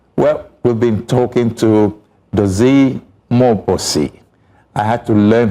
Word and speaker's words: Mmobuosi: Well, we've been talking to Dozy Mmobuosi. I had to learn how to pronounce that name because you see, M-M-O-D-U-O, no, so B, M-M-O-B-U-O-S-I.